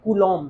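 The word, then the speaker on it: coulomb: इसका जो मात्रक होता है वो होता है कूलोम क्या बोलते है इसको कूलोम अंग्रेजी में अगर लिखा जाए तो इसकी स्पेलिंग होती है बच्चों ये सीओ यू एल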